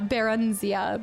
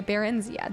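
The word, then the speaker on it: Barenziah: Baronzia. Brennenzia. Baronzia. Okay, Barenzia.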